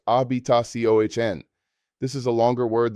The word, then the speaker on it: habitación: Room is habitación, pronounced habitación. This is a longer word that requires practice. Break it down into syllables. Habitación. The stress falls on the final syllable, indicated by the accent mark.